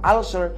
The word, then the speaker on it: ulcer: taas ang acid at ang tamang pronunciation po ulcer pero d sa Pilipinas ang tawag niyo ulcer Sabihin mo nga ngayon ulcer hindi bagay balik tayo sa ulser pero nadagdagan ng pag-aaral nadagdagan